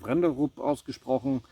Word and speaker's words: Brenderup: From the Brenderup brand. Here it is probably pronounced Wrenderup. A B here is W.